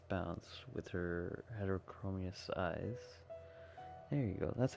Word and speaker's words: heterochromous: those who step within its bounds with her heterochromous eyes.